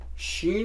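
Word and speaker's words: ش: शीन को इंग्लिश में बनाने के लिए एस और एच यूज़ किया जाता है, शुड, राइट।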